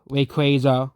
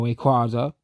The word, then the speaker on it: Rayquaza: Honestly, if you look at generation 3 Pokemon, you have Septile, um, Swamper, Comrain, um, Manetric, Ray Craza or Rayquaza, whichever way you pronounce it.